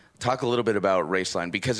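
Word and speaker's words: Roeslein: for a company called race line alternative energy pronounced race line but spelled ro es el e I n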